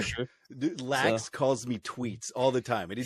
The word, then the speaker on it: Treets: Is it Tweets?" And he's like, "Yeah, it's Tweets."